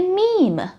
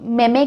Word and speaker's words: meme: काफ़ी लोग इसे, कुछ लोग मेमे कहते हैं, कुछ मेम्स कहते हैं, बट इसका सही उच्चार है मीम, MEME, मीम।